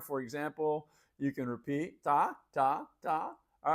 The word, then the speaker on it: tá: Number two, ta, like T-A, and it has an accent on the A.